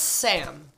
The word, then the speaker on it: Ssam: It's literally pronounced Sam. We're making Sam, spelled S-S-A-M.